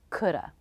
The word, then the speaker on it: coulda: the schwa shoulda woulda coulda note that the L is silent in these words and they all have